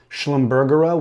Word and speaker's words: Schlumbergera: Um, I've also heard it pronounced Schlumbumbera with the hard G, but um, I like this soft G. It sounds fancier. Schlumbersa.